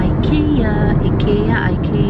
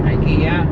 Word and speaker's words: IKEA: Anyways, we're on our way to have breakfast sa Ikea. I really don't know how to pronounce it. Ikea. Oh, yun daw. Ano? Ikea. Oh, Ikea daw. Sabi niya.